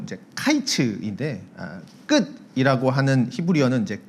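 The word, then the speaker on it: קַיִץ: 게다가 이제 여름 과일이라고 하는 히브리 발음은 이제 카이츠인데 끝이라고 하는 히브리어는 이제 캐츠라는 발음을 씁니다. 약간 이제 언어 유희죠. 그래서 여름 과일과 이제 끝이라는 이 두 용어의 발음이 이제 매우 유사하기에, 그리고 하나님께서 이제 2절에서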